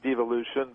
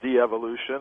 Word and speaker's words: devolution: Is it de-evolution or devolution? I say devolution, but, you know, I'll accept de-evolution if people want to pronounce it like that.